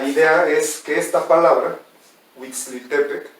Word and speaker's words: Huitziltepec: pues entonces la idea es que esta palabra huixtepec y decimos es el nombre correcto de este pueblo pero que ya lo pronunciamos bien cometemos enfrentar plasmo y nos comemos